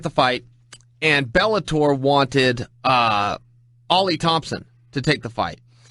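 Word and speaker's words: Oly: I called him Ole Thompson because that's how his name is spelled, O-L-Y, Thompson, all night on the mic, and Fish jumped in my ear, in my IFB, and said, it's pronounced Ollie.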